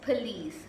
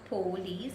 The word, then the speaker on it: police: It's pronounced as police, not police, because it says P-O, it's not po, it's P.